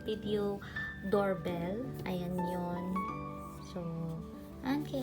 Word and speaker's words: Annke: unboxing so thumbnail and this is all about ank or wireless doorbell so it's up to you how do you say it ank or NK so it's up to you so this is